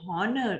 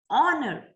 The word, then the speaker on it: honor: r we say and honor we never say honor it's honor oh okay h is silent so we use the article a and